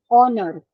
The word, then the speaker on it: honor: is beginning with h where the H is consonant here but the H is silent in that particular word where we get vowel sound here honor okay now to be